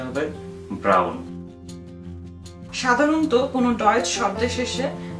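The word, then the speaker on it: braun: ই কোন শব্দের মাঝে যদি আপনারা ডয়েচে আ এবং উ দেখেন তাহলে তার উচ্চারণ হবে আউ যেমন ব্রাউন এর বানানটা আমরা এভাবে লিখি পে এর আ উ এন এর উচ্চারণটা হবে ব্রাউন সাধারণত কোনো ডয়েচ শব্দের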